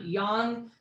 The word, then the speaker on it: yang: So it turns out yang is actually pronounced yang.